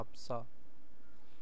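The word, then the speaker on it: 없어: noo itu adalah luas opso tidak ada ya yabun jadi bacanya obso Oke robun kita lanjut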